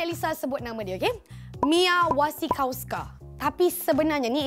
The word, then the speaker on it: Mia Wasikowska: Mia Wasikowska. Tapi sebenarnya ni ejaan dia. Tapi sebenarnya cara betul sebutan dia adalah Mia Wasikowska.